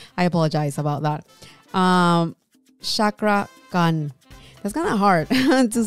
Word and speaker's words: Cakra Khan: How did he pronounce his name again? It's Chakra Khan. Oh, Shak. Hold on. Who are you? My name is Chakra Khan. Chakra Khan. Oh, okay. I said it wrong in the beginning.